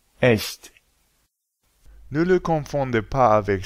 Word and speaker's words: echt: pour toutes les autres combinaisons, c'est ch. Par exemple, Ich. Euch. Echt.